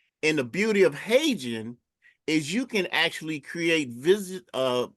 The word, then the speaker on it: HeyGen: but there's also a AI called Hagen. It's spelled Heygen. And the beauty of Hagen is you can actually create video avatars of yourself, right?